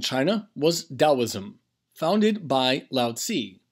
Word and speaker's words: Lao Tzu: was Taoism founded by loud see sometimes pronounces Lao Tzu around the 6th century